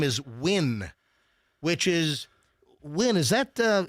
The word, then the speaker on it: Nguyen: Nguyen, I believe, is pronounced Win.